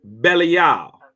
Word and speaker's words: Belial: I don't have too much teeth left, so my pronunciation. For all those listening, is Belial.